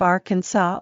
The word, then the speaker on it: Arkansas: you don't pronounce s at the end of arkansas or illinois a and b such